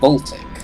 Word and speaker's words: Voltaic: Interestingly, in the Exile theme song, when it recites the ages you visit, Voltaic is not pronounced as Voltaic, but Voltic.